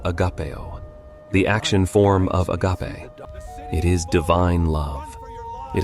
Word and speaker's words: agape: The first word is agape, pronounced agape.